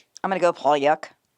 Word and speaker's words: Pauillac: I'm gonna go Pyuk, but based on my knowledge, Poyak is the most common pronunciation.